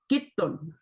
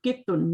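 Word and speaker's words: قطّ: कित्तुन, कित्तुन, ठीक है ना? तशदीद है ना, कित्तुन।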